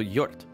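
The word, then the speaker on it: Hjort: And J is pronounced like Y, says Zeshin. Oh. So Yort. So HJ, the H is silent. Yort.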